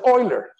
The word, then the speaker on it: Euler: So I have just 1 minute here, and just to relax, you know that Euler is written like this, but it's pronounced Euler.